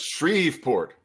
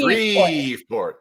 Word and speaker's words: Shreveport: How do I say that? That's Shreveport. Say it with me. Shreveport.